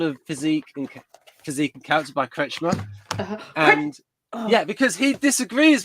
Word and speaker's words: Kretschmer: Yeah, I spell it as Kretz, Chmer. It's Kretschmer.